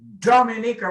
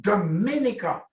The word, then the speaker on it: Dominica: And notice I pronounce it Dominica with the accent on the first syllable and not Dominica.